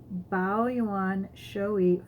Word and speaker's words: Bao Yuan Shou Yi: Bao Yuan Shou Yi.